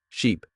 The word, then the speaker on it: sheep: Ship has a short I sound like in sit and sheep has a long e sound like in sea.